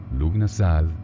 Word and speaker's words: Lughnasadh: autores Janet y Steward Luna Salt 31 de julio pronunciado lunas a significa la conmemoración en